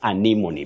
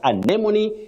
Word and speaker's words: anemone: Remember the first word, you can also say anemone, but anemone is the one which is more recognized when you talk about RP, that is received pronunciation.